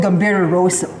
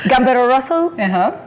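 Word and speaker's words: Gambero Rosso: worest let's talk about the event it's called gamb Roso how am I supposed to pronounce it you pronounced it perfectly so gamb Roso top Italian wine Road Show okay and this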